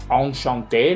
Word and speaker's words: enchanté: Bueno, no que no la pronuncien, pronúncienmela como ON, por favor. Enchanté, no enchanté. Pensé, no pensé. Et comment, no comen, ni coment. ¿Sí? EN es ON, algo muy, muy, muy